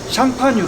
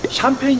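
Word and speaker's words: Champagne: 나고 의 차이가 뭐냐면요 국제법으로 프랑스 션 파주지역 샹파뉴 를 영국 사람들은 항상 이태리에 있는 지명이나 프랑스에 있는 지명이나 영어식으로 발음한 걸 좋아하기 때문에 샴 파니의 영어식 표현이 샴페인 이라구요 샴페인 없고 있는데 국적법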